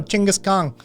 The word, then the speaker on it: Genghis Khan: chingus also love the love the actual like phonetic pronunciation for those of you know chingus Kong um that's Genghis Khan uh we we completely mispronounced mispronounce that man's name all the time um neither is driving